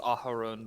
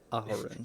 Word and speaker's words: Aharon: So, Auron, as you and I hope I'm pronouncing that right. Technically, the way I have it is Aharon, but Aharon. Thank you. but Auron is also good. Aharon.